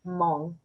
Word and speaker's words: Hmong: So kind of a silent H.